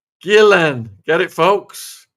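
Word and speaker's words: Ghislaine: Gillan. Get it, folks? Gillan. Gillan. Gillan. Gillan. That is how it's pronounced.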